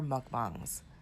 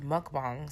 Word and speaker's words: mukbang: And I believe it's pronounced mukbang. So that's the first thing that kind of annoys me about how Amberlynn says it, as well as Trisha Paytas.